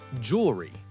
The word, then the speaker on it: jewelry: In the US, we say it like jewelry. Two syllables. We don't say jewelry with three syllables usually, just jewelry.